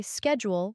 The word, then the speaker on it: schedule: For example, Americans say schedule with a SK sound, while British people say it with a SH sound.